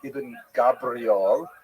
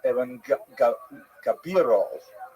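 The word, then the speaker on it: Ibn Gabirol: pointed out to me it's not Iben Gabriel, it's Evan Gabiro or Gaviro.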